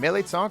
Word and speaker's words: mirliton: If you've never heard or seen a milit before, it's spelled a little different from how we actually say it here, but it's basically a pear-shaped squash, and it's very popular in Cajun and Creole culture.